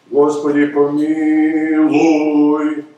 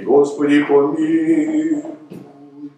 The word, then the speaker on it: Господи помилуй: Господи помилуй is wrong. It should be Господи помилуй.